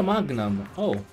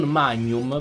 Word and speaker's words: Magnum: apre col tiro 0 mag nam si legge ma tenham e non magnum perché magnum è il gelato ign in inglese si legge quindi fate voi i